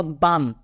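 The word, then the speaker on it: balm: पढ़ा जाता नहीं है उसी तरह guys B ए एल एम एम के पहले एल आ रहा है तो मैं क्या बढूंगा बाम आई वट आई से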